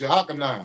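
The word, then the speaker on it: Jochannan: He said, "How do y'all pronounce Dr. Ben last name?" It's Jakan. Jakan.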